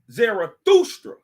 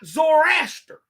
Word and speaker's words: Zarathustra: name also called zerusta the t is pronounced like ta like the like the